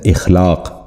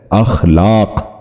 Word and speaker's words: اخلاق: درست تلفظ ہے ابلاغ۔ آج کا دوسرا لفظ ہے اخلاق، جو غلط تلفظ ہے۔ درست تلفظ ہے اخلاق۔ دوبارہ سنیے، درست تلفظ